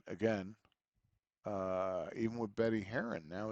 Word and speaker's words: Herron: Heron.